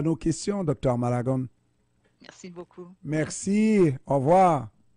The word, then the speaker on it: Malagon: Docteur Talia Malagon, est-ce que je prononce bien Malagon? Oui.